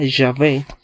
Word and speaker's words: Yahvé: Así la palabra Yahvé es la más cercana a la pronunciación original del nombre de Dios. Cabe mencionar que la palabra polaca Jehová es un híbrido que nunca se pronunció.